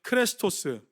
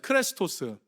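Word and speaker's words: χρηστός: 크레스토스. 다시 한번 따라해 주세요. 크레스토스. 예, 여러분 발음이 뭐 되게 비슷하지 않으세요?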